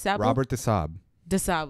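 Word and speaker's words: Robert de Sablé: know it's a sable but they do not pronounce it that way okay so so what did you say Robert the Saab okay right now the Creed of the Assassins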